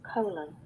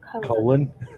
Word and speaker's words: Colan: Colan. See, that's my name. That's how my name is pronounced, folks. Colan.